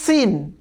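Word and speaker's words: س: যেই হরফটিকে কোনো নুক্তা নেই এটি হচ্ছে সিন। সিন, এই সিনের উচ্চারণ খুবই পাতলা।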